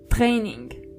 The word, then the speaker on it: Training: The German version of it is Training. So you only have to roll your R.